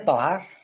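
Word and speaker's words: طهارة: at thaaharah bacaannya thaharah. Thaaharah itu kalau dibacanya thaaharah thnya ya thnya pakai fathah itu maknanya annadofah bebersih ha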